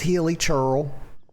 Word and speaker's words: Hilichurl: She pronounced this word wrong. This is Hilichurl. Okay. I don't believe in silent letters, y'all.